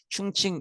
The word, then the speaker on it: 충칭: 요게 한자 발음이고 요게 중국식 발음입니다. 중국 발음이고. 근데 옛날에는 중경이라는 표현도 많이 썼는데 지금은 충칭이라는 중국식 발음 표현을 좀 더 많이 쓰는 것 같아요. 그래서 이때는 충칭 임시정부 이렇게 보시면 될